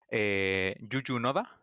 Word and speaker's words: Juju Noda: Bueno, Víctor, evidentemente, es una persona que está trabajando como muy, muy de cerca con Yuyu Noda, se dice así, ¿no?